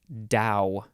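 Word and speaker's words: dhow: The next word, Dow, D-H-O-W.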